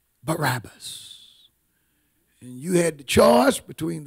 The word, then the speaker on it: Barabbas: son of Abbas who was a famous teacher pronounced Barabbas you had the choice between the son of